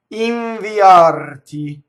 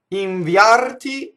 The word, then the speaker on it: inviarti: Inviarti. So inviarti is the right way to say it. The poetic is inviarti, to separate the E as a semivowel.